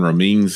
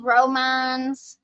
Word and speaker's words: Romines: Uh his attorney the main attorney is Steven Romans. He's out of Louisville and he is it's Steve Romines I think is how you actually say his name.